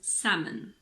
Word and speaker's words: salmon: walk balm Cal Palm it's also silent in the words could should and would another one is salmon salmon in the word Armond